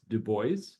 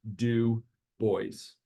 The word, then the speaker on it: Du Bois: someone started late um his name is pronounced Deo um the uh I think it was Anthony Starks that said in one of the previous presentations he handw wrote in a letter he sent to a friend my name is pronounced do boys um so the data